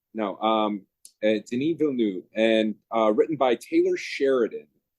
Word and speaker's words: Denis Villeneuve: I'm horrible with pronunciation. Denis Villeneuve. Denis Villeneuve. No, Denis Villeneuve.